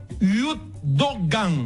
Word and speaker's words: Yurtdoğan: Ikan Yurtdoğan. ¿Ves turco? Yurtdoğan. La U con dientes arriba se pone posición U y dice E.